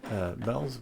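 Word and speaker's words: Welz: Vels is, you have to pronounce it as a V because it's Germanic. Well, it's Czech W, but it's like German.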